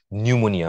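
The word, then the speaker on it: pneumonia: health has dash of নিউমোনিয়া বানানটা খেয়াল করে দেখো পি দিয়ে শুরু হবে নিউমোনিয়াটা সো শ্বাস রোগের কারণে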